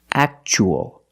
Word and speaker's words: actual: the second word we see Tua as a second syllable so the t is pronounced CH actual actual means real and